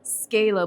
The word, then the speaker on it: Zcalo: Z Scalo. Scalo, but with a Z. Right. Very cool, very cool. And if you can please introduce yourself and your organization. I am with Scalo Inc.